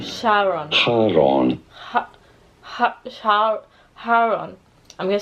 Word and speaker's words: Charon: For reference in Greek, this is said as Charon. Sharon. Charon. Haron.